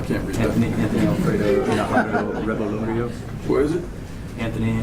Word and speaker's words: Najarro: The next one, Anthony Alfredo Naranjo. Did I get that? Najarro. Najarro. N-A-J-A-R-O. R-R-O. R-R-O, sorry.